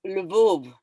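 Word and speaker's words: Lwów: Well, so you pronounce it differently. In Polish, it's Lvov.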